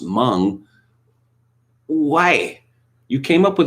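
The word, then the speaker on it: Meng: is completely nuts that it's spelt m-e-n-g but it's supposed to be pronounced hmong why you came up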